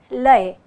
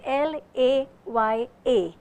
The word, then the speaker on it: laya: my friends in kathak our speed is called lei it is spelled as l a y a laya means as we